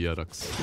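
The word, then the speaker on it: Jerax: Is it really Yerax? Does he pronounce his nickname like that? That's how I've been told by the Finnish people.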